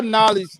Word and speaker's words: knowledge: how you said knowledge you don't spell knowledge with a end even though it makes the end sound you spell it with a K but the K is solid